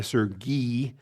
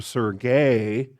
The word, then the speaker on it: Sergi: Uh by the way, Sergi with the I I Serge is the preferred pronunciation because that's the Ukrainian pronunciation. If I slip up and I call him Sergey, uh he will forgive me because he's a grace minister, but Sergey is the Russian pronunciation.